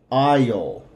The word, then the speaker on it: aisle: call this an aisle aisle now with this word the a the s and the e are silent are silent so this is actually